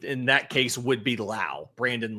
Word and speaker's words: Lowe: The note in here is the pronunciation rhymes with now. So Brandon Lau, Nathaniel Lowe, Josh Lowe.